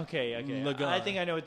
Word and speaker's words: Gurren Lagann: Gurren Lagann. Okay. Lagann.